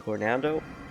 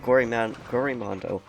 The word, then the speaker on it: Gorimondo: say his name because I'm going to call him Gornando, but it's Gorimondo.